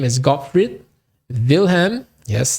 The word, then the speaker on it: Wilhelm: his name is gottfried wilhelm yes that's a v because in germany w is pronounced as v lightness okay here's a